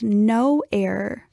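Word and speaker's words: Know Error: There's a different type of genetic test that I've heard about called no error for newly diagnosed men. Yeah, it's spelled K-N-O-W error, kind of a tricky little play on words.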